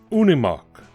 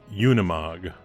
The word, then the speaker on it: Unimog: corrected if I'm wrong it's pronounced Unni Mach it's made by Daimler sold under the mercedes-benz banner in the US their freight liners and I'll bet a plug nickel it's pronounced Unimog it's a contraction of